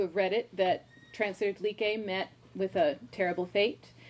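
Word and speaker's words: Dlique: And so, for instance, she says translator Dleek, and in my head I hear translator Dleeke.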